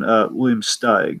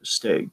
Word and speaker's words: Steig: a children's book by, I believe I'm pronouncing his last name right, it's William Steig or Steg, William Steg.